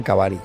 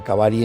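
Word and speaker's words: Mtkvari: maravillosas del río Kura, que ellos le llaman Kavari, o sea, Kavari en su idioma local, pero se escribe Kura, que es como le llaman los turcos, porque nace en Turquía,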